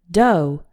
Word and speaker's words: dough: and to sign up the first pronunciation is like the O in know as in the word doe doe is a soft